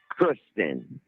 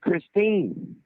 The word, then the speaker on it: Christine: know, having sex with Kristen. You didn't even say her name right. You kept saying Kristen, and her name's Christine.